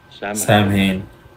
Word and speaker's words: Samhain: Samhain. It means the Lord of the Dead. The end of summer. Samhain. Isn't it festival of Samhain. Pronounced another way?